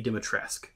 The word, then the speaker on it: Dimitrescu: They're also using the pronunciation of how it's spelled rather than how they pronounce it in the game. In the game, they say Lady Dimitrescu. The U is silent.